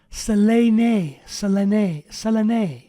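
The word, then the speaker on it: Σελήνη: And it's pronounced Selene, the moon.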